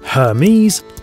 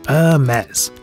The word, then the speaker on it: Hermès: we should clear this up early it's not pronounced hermes it's a mess a design house like no other this french